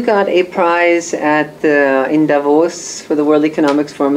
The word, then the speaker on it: Davos: No, it was funny because, like you say, Davos, like, you know how to pronounce it. Like, I'm probably the only one in the whole room. It's not Davos, Davos. It is Davos, yeah.